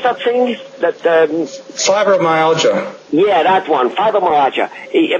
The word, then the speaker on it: fibromyalgia: Fibromyalgia, how do you pronounce that thing? Fibromyalgia.